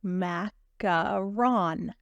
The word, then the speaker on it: macaron: so first of all macaron it is pronounced macaron and they are they